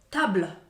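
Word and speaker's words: tables: stół to t a stoły to Table to s na końcu jest niemy my tylko w pisowni widzimy że to jest liczba mnoga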